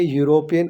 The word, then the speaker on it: यूरोपियन: N Aichi sweater, N अगली duck, ए यूरोपियन। अब यहाँ पर ई यू है लेकिन इसका साउंड क्या हो रहा है, य।